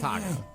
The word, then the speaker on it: Taako: His name is Taco.